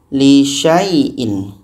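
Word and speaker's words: لِشَيْءٍ: Jadi bacanya sya bertemu ya, syai. Li syai'in. Ini alif ini abaikan. Contoh. Wala taqulanna li syai'in inni. Li syai'in. Li syai'in. Sya bertemu ya, syai. Dibaca pendek saja.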